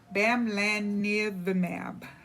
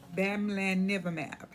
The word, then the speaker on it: Bamlanivimab: So I'm gonna make an attempt here to pronounce the name of this. It's called Bamlanivimab. Bamlanivimab.